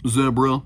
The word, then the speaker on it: zebra: the zebra shades um actually it's pronounced zebra like debra okay little mr mr